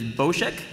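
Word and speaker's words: Bossk: Face Off is bosek so that's the official pronunciation is bosek uh number of dialogue lines in the script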